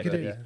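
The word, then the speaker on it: Cádiz: Yeah, Cadiz.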